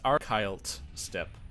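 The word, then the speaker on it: Archylte Steppe: So is it archile? Like the T is silent? It's archiled step.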